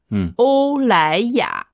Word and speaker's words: 欧莱雅: Donc, en chinois, on a choisi aussi 3 syllabes puisque c'est L'Oréal.